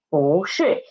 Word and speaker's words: 不: And because it is before the fourth tone syllable, 是, that's why 不 changed its pronunciation, changed its tone into second tone. So it becomes 不是.